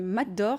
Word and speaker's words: Mat d'Or: En 2018, vous avez reçu un 2e prix Mat d'Or, ça se prononce comme ça.